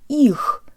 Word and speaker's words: их: to pronounce the word их, meaning them or their. Let's say this word with good Russian default mouth position. Jaw slightly forward, tip of the tongue behind the bottom teeth, lips rounded and protruded.